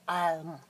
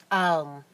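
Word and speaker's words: Ailm: It was an A, and it was a silver fir tree, and it was Alm, A-I-L-M, pronounced Alm, Alm, Alm, clarity, energy, clear-sightedness.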